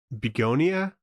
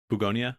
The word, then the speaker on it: Bugonia: I don't really know how to pronounce this. Beonia. Bugonia.